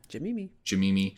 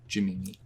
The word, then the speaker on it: Jamimi: Jamimi. So it's JIMMIMI. We don't skip any letters. It is literally just Jim and Mimi with no space, but pronounced as one word. Jamimi.